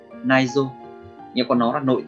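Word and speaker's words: 内臓: Cách đọc của nó là naizo, naizo.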